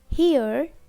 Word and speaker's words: her: Her, as in hurt. We drop T and pronounce her, her. We can also pronounce without R, her, her, or her, her.